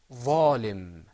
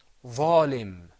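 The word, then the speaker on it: ظالم: Am I bunching my lips together, bringing them together? That means it's going to be mufakham.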